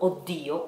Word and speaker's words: Oddio: Even because you have to consider that in Italian we have another word that is spelled O, double D, I, O, Oddio, which comes from exactly this sentence, Oddio, but it is another word.